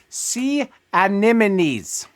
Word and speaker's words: sea anemones: For those wondering, the pronunciation is sea anemones.